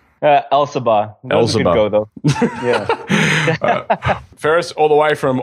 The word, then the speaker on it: Elsabbagh: I've got my man, Farres Elsabbagh. That's wrong. Run through that. How do you say it? Elsabbagh.